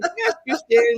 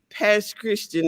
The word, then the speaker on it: Pass Christian: Only people that are from there know it's not Pass Christian. It's spelled as Pass Christian to those of us that are from there.